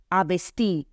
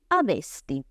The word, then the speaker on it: avesti: Non è ebbi, avesti, come sento spesso, o avesti, altra pronuncia che sento spesso, ma è ebbi, avesti, ok?